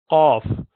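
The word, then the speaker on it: ق: you pronounce the letter Qaf. If you say Aq, so you would know the base of the tongue goes up to pronounce this letter.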